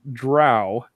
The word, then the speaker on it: drow: I've always heard it drow. I say drow, but In fact, I've